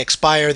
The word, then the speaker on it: Xpiher: zappix about this I when I read your name I said expire that's how I've been calling you how do you pronounce your handle that's actually how I pronounce it uh I noticed that